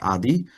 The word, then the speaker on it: Adi: Uh my name is Adi. Um it's pronounced Adi.